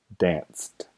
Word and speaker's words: danced: pronuncia ST la terminación los sonidos de walked dance termina en una letra c e pero el sonido es s y el sonido s es sordo entonces danced y este es la